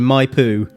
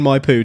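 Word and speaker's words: Maipú: back to Mendoza following a business meeting in my poo that's spelled m a i p u for our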